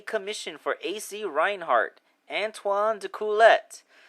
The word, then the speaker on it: D'Coolette: for AC Reinhardt antoan dulet although I hear that since the name is French it would technically be pronounced antoan deuer I'm not really sure